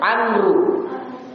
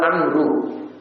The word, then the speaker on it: Amr: Munzir bin Amru. Bin Amru. Boleh juga dibaca bin Amr, tapi bacanya lebih kuat Amru.